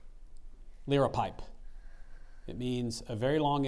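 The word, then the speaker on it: liripipe: dress sentence Gareth wore a hood with a l pipe down to his knees to the Renaissance Fair to noun the word is from Latin there are no alternate pronunciations L pipe L pipe l i r i p i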